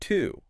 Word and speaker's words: too: The word to, T-O-O, sounds exactly like the number 2, T-W-O, just 2.